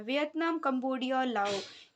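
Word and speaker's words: Laos: में Vietnam Cambodia और लाओ यहां पे एस साइलेंट है ओके तो इंडो चाइना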